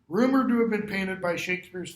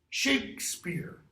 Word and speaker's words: Shakespeare: In this one, I don't know if you can see it, there's no E after the K. Shakespeare. The E after it is what gives rise to the pronunciation Shakespeare.